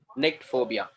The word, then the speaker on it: nyctophobia: Nict phobia. Nict phobia. C is phobia. silent, I think. No? C is silent.